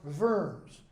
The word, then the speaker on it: Worms: the deity of w-r-m-s worms or verms as it's pronounced deer means meeting in